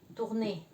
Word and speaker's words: tourner: Entonces cada vez que usted va a ver la O y la U juntas se va a pronunciar como U. Por ejemplo, tourner. Sería como vuelta, ¿de acuerdo? O U es U.